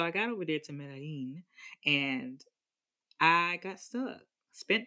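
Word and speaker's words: Medellín: I'm trying to say it right cuz I was all, you know, I was over there talking about Middlin. But so I got over there to Medí and I got stuck.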